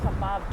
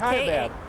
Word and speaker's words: Kaibab: It was the kebab trail. It's Kaibab. How does that pronounce it?